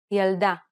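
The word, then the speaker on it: ילדה: Correcting this is very easy because most Hebrew words are stressed on the last syllable. Pay attention to the stress pattern in the following Hebrew words. Bgadim, yalda, lilmod.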